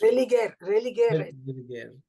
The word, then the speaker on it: religare: I don't know how it's pronounced. Religare.